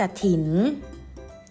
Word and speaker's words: กฐิน: เลย ทำ ที่ 1 กฐิน อ่าน ว่า กฐิน อ่าน อีก ครั้ง นะ คะ กฐิน เรา จะ อ่าน ออก เสียง กะ เพียง ตื่น เสียง เท่า นั้น นะ คะ กฐิน เก่ง มาก